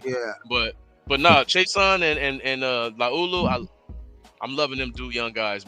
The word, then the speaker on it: Laulu: Laulu. That's how you say it. Laulu.